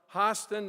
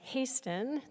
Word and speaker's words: Hasten: And now I'd like to invite Hen to come up to talk about Carolyn Borky's ordination coming up. good morning. My name is actually Hasten. It's always mis uh pronounced, but that's okay.